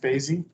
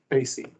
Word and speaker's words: Basie: up will be your last name is pronounced Basie Basie thank you okay okay